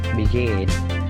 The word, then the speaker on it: begin: Begin. Jadi perhatikan stressingnya punyanya come, punyanya gain, punyanya live. Jadi stressingnya itu di suara yang kedua.